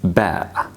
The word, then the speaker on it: ب: Ba is pronounced like the B sound in the English alphabet. Ba, ba. Like when we use it in the English word bat. Bat. So bat, same pronunciation as ba.